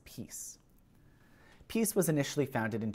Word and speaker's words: PiS: its polish acronym pis which is usually pronounced as peace peace was initially founded